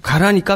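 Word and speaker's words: 韓: 일본 사람들이 한국을 강꼽고 이렇게 읽거든요. 네네네. 그런데 그것은 한국 할 때 그렇게 읽는 것이고 사만할 때 하는 가라라고 읽습니다. 하늘 가라.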